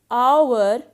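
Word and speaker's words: hour: now notice the word our and honest so in both these words h is silent so our and honest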